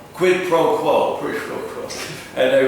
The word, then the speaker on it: quid pro quo: The qui pro quo. I'm sorry, no. Qui pro quo. No, quid pro quo.